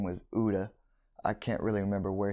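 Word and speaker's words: Utha: I think he was an interpreter, and another guy, young man, his name was Uda. I can't really remember where he was from. His name was actually spelled like Utah, U-T-H-A.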